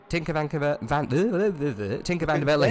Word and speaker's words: Tinker van der Velde: So Tinker Van der Velde suffering. That's how you say his name, really, in Dutch.